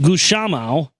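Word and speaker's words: Gusmão: instead goes to Bartholomew daegu samel pronounced goose Shama on August 8 17:09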